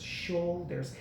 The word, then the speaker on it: shoulders: a body part shoulders shoulders the U is silent and shoulder so when you get to that you know the SH diagraph go right to the O and that you is shoulders okay so I would say